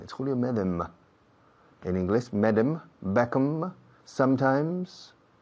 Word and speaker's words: Medem: No Meden, como dicen todos los españoles. No es Julio Medem, es Julio Medem.